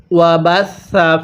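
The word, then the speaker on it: وَبَثَّ: বাদা মাউতিহা, এরপরে ওয়াবাসা ফিহা, ওয়া বাসা, সাটা নরম করে উচ্চারণ করব। ওয়াবাসা, অনেকেই আমরা ভুলে এই সাটাকে শিন উচ্চারণ করি। যদি সাকে শিন পড়ি তাহলে পড়াটা সহি শুদ্ধ হবে না।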